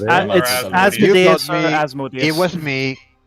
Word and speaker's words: Asmodeus: It's Asmodeus.